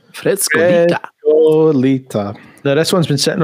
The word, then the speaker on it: Frescolita: And let's sample a wee bit of Frescolita. And you have to say it like that. Frescolita.